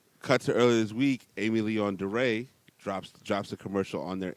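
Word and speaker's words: Aimé Leon Dore: Cut to earlier this week, Amy Leon DeRay drops a commercial on their Instagram.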